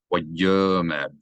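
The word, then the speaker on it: וַיֹּאמֶר: Which means that this aleph has no vowel of its own, and therefore it is silent. Wayomer, you read it as if the aleph's not there, no glottal stop.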